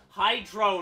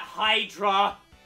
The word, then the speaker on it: Hydra: brain of people who pronounce it Hy Hydro not Hydra you fool it could always go